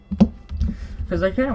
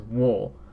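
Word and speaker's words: を: You do pronounce it as wa, but for wo, you don't really pronounce it as wo. It's o.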